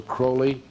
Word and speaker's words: Crowley: a fellow named Alistair Crowley uh he liked to be called holy acrylic because it rhyme with holy but his real name